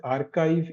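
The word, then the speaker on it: arXiv: So um so this is pronounced pronounced as archive.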